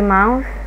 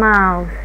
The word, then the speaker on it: mouth: The mouth الفم التي اتش هنا بتتنطق ث ث ثعبان ونطلع لساننا بره ونقول mouth. حاجة تانية في كلمة mouth ال O U دايما لما بنشوفها نقول أو يعني مع ال M م mouth mouth دايما ال O U أو